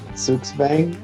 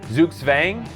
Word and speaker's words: Zugzwang: behind Zoop suave gay how do you pronounce it again dude what are we going with here suits Fang zooks Fang yeah sounds good to me that's what the little you know the little dictionary pronunciation says okay zooks Fang and this is a